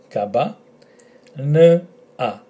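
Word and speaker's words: καμπάνα: So kaba, kaba, n, a, kabana, kabana, kabana, kabana, kabana, which is a bell.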